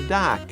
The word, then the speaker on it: dock: It sounds like doctor, right? Kind of the same sound, dock or doctor. Doctor like that. 略してドックって言ったりし Right, ますもん right, ね。 right. But especially American pronunciation, Canadian pronunciation, North America, you got to open your mouth very big.